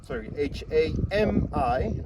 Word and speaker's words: hami: This is the tapa cloth or hami, spell it H-A-M-I, hami, and that's the tapa cloth of traditional clothing.